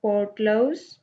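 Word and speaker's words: Port Louis: Pronounce it पोर्ट लाउस।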